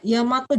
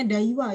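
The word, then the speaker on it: 大和: Hai, Yamato Jidai ya. Jadi kanjinya seperti ini ya. Jangan bacanya Daiwa ya, tapi Yamato.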